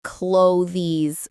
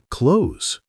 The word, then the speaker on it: clothes: Oh, I always say clothes with the th. Most learners do, but native speakers often say it faster. Almost like close.